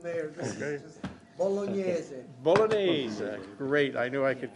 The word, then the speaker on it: Bolognese: So how do you pronounce the meat one, Joe? Let's go, Mr. Mayor. This is just Bolognese. Bolognese.